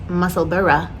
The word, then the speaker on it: Musselburgh: So the first one is the Musselburgh hat. It is spelled like Musselburgh, but it is pronounced Musselburgh, like Edinburgh.